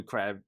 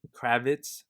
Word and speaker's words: Kravitz: year two so that's pretty cool uh zoe crab kravitz kravitz oh man she's she's gonna hit me up yo you pronounced my name wrong uh he's playing uh